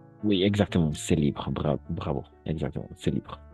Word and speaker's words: ce: stylo h ce stylo attention ce stylo on va prononcer e fermé ce stylo h très